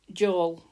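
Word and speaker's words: Jól: Now in Norse pagan times they called it well it's J O L but you pronounce it Joel like as in go Joel.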